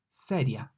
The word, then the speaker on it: sedia: The S is pronounced like S in cell, sedia.